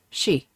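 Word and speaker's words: 四: Um, in Japanese, traditionally, four is unlucky because it is sometimes pronounced she, which is the word for death.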